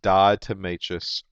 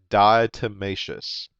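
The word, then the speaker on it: diatomaceous: times it's something that we refer to as dietmatious earth. Okay? Now, if I wanted to spell that d i a t o n a c e o u s dietmacious dietmacious earth are basically little algae critters that have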